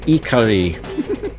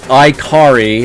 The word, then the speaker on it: Ikari: It's pronounced Iari. It's not iicari as I usually heard back in the dayari.